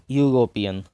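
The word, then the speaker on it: European: जैसे यूरोपियन. यहाँ पर यूरोपियन ई से स्टार्ट हुआ है. ई क्या है? वॉवेल. लेकिन ई यहाँ पर साइलेंट रहता है. साउंड किसका आता है? यू का साउंड आता है.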